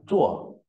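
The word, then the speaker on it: 辶: Bộ xước đọc là chuột.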